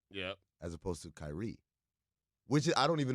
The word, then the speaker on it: Kyrie: I'm very interested in the way you pronounce Kyrie what you put the emphasis on the Chi I did as opposed to the ree you go Kyrie yeah as opposed to Kyrie which is I don't